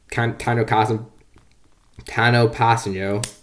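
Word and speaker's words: Tanoh Kpassagnon: Tano Passanio, that's how you say it.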